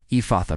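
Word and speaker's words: Ephphatha: Ephatha pronounced ephatha. E f a soft breath. F opens wide. Let the mouth open fully as you say it.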